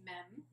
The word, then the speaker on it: mem: I had learned as mem. And you told me the more antiquated way to pronounce it is main.